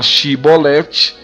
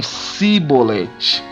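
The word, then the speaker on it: Chibolete: Ao invés de falar Shibolete, eles falavam Sibolete.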